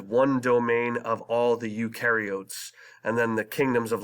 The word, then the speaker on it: eukaryotes: a nucleus and these include all things bacteria eukaryotes do have a nucleus inside their cells and